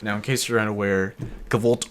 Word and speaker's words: kvlt: Now, in case you're unaware, cult, or cult as it's actually pronounced, is just kind of